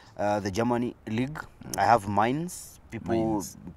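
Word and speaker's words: Mainz: I have mines people people call it Mains but it's called mines it depends with where you come from those it doesn't depend where you come from there's a name you need to pronounce it correctly then uh taking on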